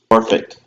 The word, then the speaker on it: Norfolk: Norfolk. Norfolk. Oh. It's spelled Norfolk. I used to say Norfolk, but my friend is from Virginia, Corey, and it's pronounced Norfolk.